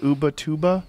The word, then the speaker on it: Ubatuba: Ubatuba? Ubatuba, Brazil? So this is a different, it might be a different pronunciation in Portuguese.